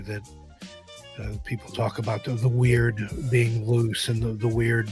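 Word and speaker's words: wyrd: It's, you know, phonetically it's like weird, it it seems to be more about fate and fortune and and I love that concept too that people talk about the weird being loose and the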